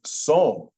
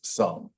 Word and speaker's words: some: An example of an exception in English, most of the time when you have an E at the end of a word that follows a consonant, the E is silent, and the O, or the vowel, says its own name. So a lot of people would think that says som, but it's some.